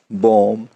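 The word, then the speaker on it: bomb: जैसा कि टॉम, कॉम, बॉम, lamb, climb, डम। इसमें बी की साउंड नहीं आई है, क्यों? बी साइलेंट था, क्यों? एम के बाद आया।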